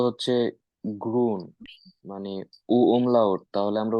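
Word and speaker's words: grün: বলছি গ্রিন গ্রিন গ্রিন হ্যাঁ আমি বলি বাংলাতে উচ্চারণটা বলি দেই গরফ আছে না গরফ গরফ রসুকার রসই দন্তান গ্রুইন গ্রুইন গ্রুইন ইয়া ইয়া ওকে আপু থ্যাঙ্ক ইউ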